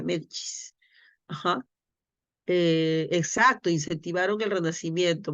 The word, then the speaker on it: Medici: una familia de italianos medicis no pero se pronuncia medis aj Exacto incentivaron el